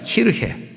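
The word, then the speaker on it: Kirche: 제가 문가를 나왔습니다 문과를 그래서 독일어로 교회는 키입니다 키르헤 k c 스펠링이 치는가 원래 K아요 그래서 영어의 치는 독일어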